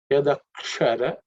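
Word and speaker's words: यदक्षर: Yadakshara, so that ksha is cerebral sha.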